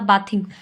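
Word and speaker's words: bathing: अभी इसको जो सिंपल वर्ब है फर्स्ट फॉर्म ये बेद होती है, और इसकी जब हम ING लगाएंगे तो ये थ प्रोनाउंस होगा, बाथिंग. They had been बाथिंग इन the Ganga since morning.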